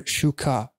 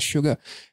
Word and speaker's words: SUGA: is very good on the on suga or shuka as that's the correct pronunciation but in english i believe you can pronounce it as suga anyway i love the long shot it's just